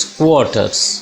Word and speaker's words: squatters: The pronunciation of the word is squatters. This is O sound.